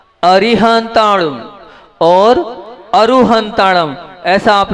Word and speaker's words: अरिहंताणं: मैं आप लोगों से ये कह रहा हूं अरहंत अरिहंताणं और अरु हंता ऐसा आप लोगों को उच्चारण करना है पहली चीज दूसरी चीज उच्चारण